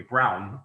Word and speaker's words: Braun: German pronunciation, Dieter Rams, of the company Braun, or Braun if you're American, Braun.